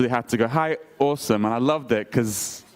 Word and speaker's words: Asim: in automatic subtitling and they correctly pronounced about my name at awesome my name is awesome so for the longest